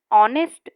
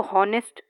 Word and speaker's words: honest: अभी ये स्पेलिंग है HONEST, तो हम इसको हॉनेस्ट नहीं बोलेंगे, this is wrong, ऑनेस्ट is correct. So here we understood that H is silent in this spelling, so we use an.